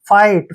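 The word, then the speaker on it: fight: ब्राइट चमकीला next देखिए एफ आई जी एच टी यहां भी टी से पहले जी एच है जी एच को हम साइलेंट रखेंगे नहीं इसका उच्चारण करना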